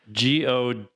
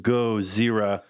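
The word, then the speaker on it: ゴジラ: GODZIRRA. That's how it's in Japanese. That's Godzilla's actual name in Japanese, which is pronounced GODZIRRA, which is what they're saying in a lot of those older movies.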